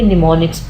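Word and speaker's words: mnemonics: ये symbolic codes होते हैं और यहाँ पर एम साइलेंट है, इसको आपने निमोनिक्स पढ़ना है।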